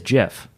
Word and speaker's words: GIF: Is it pronounced GIF or GIF? It actually, I think it is Jif. Like the file format? Yes. Well, that's what the creators say, but I don't believe it.